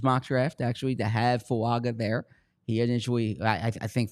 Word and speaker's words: Fuaga: I mean, I did hear earlier this offseason that Fuaga was. Am I pronouncing it correctly now?